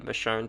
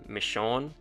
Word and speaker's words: Michonne: as a side note cokeman originally intended Michonne to be pronounced Michonne but after the TV show the name is retroactively become universally accepted as Michonne with even The Telltale Game eventually using said pronunciation despite still existing within the world of the comic not to mention this pronunciation just being more in line with its spelling by the way one